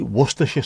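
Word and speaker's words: Worcestershire: Phonetically, wor sauce or worersha sauce? It should be worersha sauce, but because we're lazy over here, just wor the sauce, isn't it? For for us anyway, outside of worersha could cut things down quite a lot.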